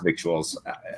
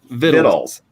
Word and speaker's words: victuals: riyals victuals my hobby how do you pronounce victuals just Biddle just fiddle but vittles like diddly cat food okay there again